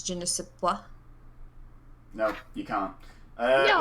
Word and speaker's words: je ne sais quoi: Can I just correct that it's je ne sais quoi?